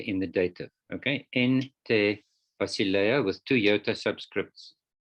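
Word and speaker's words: τῇ: Okay, it's te, tau, eta, with a iota subscript under the eta.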